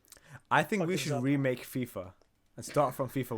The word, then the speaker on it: FIFA: now fifa let's remake fifa remakes it has to be pronounced like that there's no acronym fifa fifa okay so okay